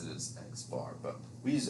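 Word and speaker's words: x̄: bar right and that is how we would pronounce that so x bar a lot most of the time these sample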